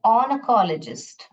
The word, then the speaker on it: oncologist: Alright, then ऑनकोलॉजिस्ट, oncologist, oncologist, ऐसे oncologist नहीं, oncologist, oncologist। ऐसा प्रोनाउंस करें, ऑन्कोलॉजिस्ट।